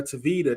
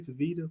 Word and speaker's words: Tavita: what I'm saying but and Aaron mentioned uh tavita that's how you pronounce his name tavita Pritchett yeah yeah so like okay okay like